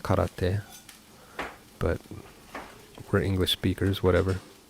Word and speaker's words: karate: thought you said taekwondo yeah i i studied karate which is actually pronounced karate but we're english speakers whatever um so i'm